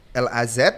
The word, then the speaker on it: LAZ: LAZ atau LAS nih? LAZ, LAZ ya.